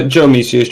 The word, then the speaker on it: Jomeseus: So, guys, for those of you that don't know, this is Josh, or Jomeseus. I am pronouncing that right. Yeah, Jomeseus. It's just a tag. It can be pronounced either way.